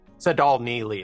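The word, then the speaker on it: Tsedal Neeley: Sadal Neely is how to say her name.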